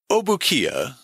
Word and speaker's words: Opukahaia: arrival in this country, Obukia, which is how Americans tended to pronounce his name, received the additional name of Henry, and Hopu, that of Thomas.